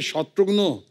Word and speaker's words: शत्रुघ्न: मिसाल के तौर पे मेरे बंगाली फ्रेंड अभी तक मुझे कहते हैं कि रे शत्रुग्नो कैमो ना आशीष शत्रुग्नो डॉक्टर नो का भाई बना दिया है।